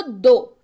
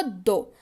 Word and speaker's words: though: जी हाँ, इसकी स्पेलिंग है THOUGH. पढ़ते हैं इसको दो. क्या पढ़ते हैं इसको? दो.